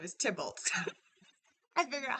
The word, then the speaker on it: Tybalt: So the last time you guys were here, and I figured out how to say his name is Tybalt.